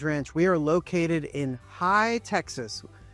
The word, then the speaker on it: Hye: I'm Seth Koppel, your Big Lot Texas Realtor, and this large acreage ranch, we are located in High, Texas, which is spelled H-Y-E, High, Texas, and we are right in between Johnson City and Fredericksburg, right in the heart of the Texas Hill Country.